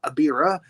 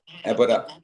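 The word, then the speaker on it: Ebirah: and she's also in the next Godzilla movie, which is Godzilla versus Abira, the sea monster. Abira, Horror Ebora. of the Deep. Ebora.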